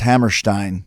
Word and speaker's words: Hammerstein: And I remember it's pronounced Hammerstein, by the way. Like Ram? Yeah, that's the way I pronounce it.